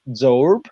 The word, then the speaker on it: Zoerb: you francesca and catherine francesca chilcote and catherine zorb did i pronounce very well your last name okay perfect